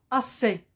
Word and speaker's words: assez: trouve à la fin le mot assez il se termine aussi par une lettre miettes c'est la lettre z il y a beaucoup